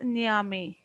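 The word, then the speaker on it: Nyame: Okay, so the name which are to be pronounced, our first one is Niame.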